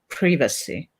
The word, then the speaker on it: privacy: How do you connect the fear of changing with the fear of losing privacy? Sorry, I pronounce it in the British way, privacy.